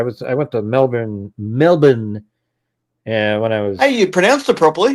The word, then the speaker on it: Melbourne: Melbourne. Yeah. And when I was Hey, you pronounced it properly. Yeah. In 19 Yeah. There's no R sound.